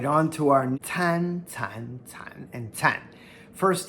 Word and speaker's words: 参: This character can also be pronounced first tone shen, as in 人参.